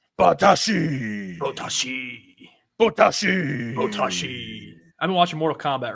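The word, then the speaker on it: 棒倒し: The name of the sport is Botaoshi, and it is a Botaoshi. You got to say it like that. Botaoshi.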